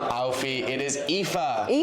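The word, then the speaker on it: Aoife: It's not Alfie. It's not Alfie. It is EA.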